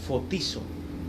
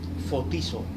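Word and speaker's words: φωτίζω: Qué significa iluminación bien del griego fotizo fotizo se escribe f o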